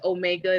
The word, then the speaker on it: Omega: term my name is omega that is my natural name omega so i said it rhymes glow glow mega omega but i really got that